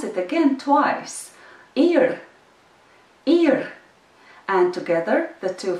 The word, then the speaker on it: ir: And the second word is ir. You know that word already. I'll pronounce it again twice, ir, ir.